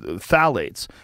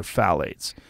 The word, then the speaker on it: phthalates: shanna swann where she was talking about um phthalates and how phthalates are literally causing phthalates or